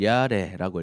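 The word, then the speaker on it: יָרֵא: 경외한다는 말은요, 사실 히브리어로 보면 이거를 야레라고 읽어요. 야레. 히브리어는 거꾸로 읽거든요. 이게 이 소리가 나고 아 소리가 나요. 그 르 소리가 나고 에 소리가 나요. 그 야레입니다.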